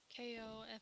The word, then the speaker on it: Ko-fi: How do you pronounce that? I say Kofi. That's what I say too. Or Yeah, Ko-fi. But yeah. then it's like I think it's really just supposed to be coffee.